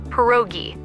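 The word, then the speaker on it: pierogi: It's pronounced perogi.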